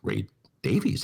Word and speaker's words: Davies: call him ray davis if i say ray davis most people go who are you talking about who's ray davis and i go well don't you know it's ray davies that's the correct pronunciation of ray davies greg kott knows it and people are like oh man no it's davey so yes mike terrari